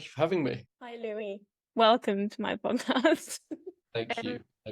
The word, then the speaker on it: Louis: I literally just asked him how to pronounce his name, and he was like Louis, and I was like, okay, not Lewis.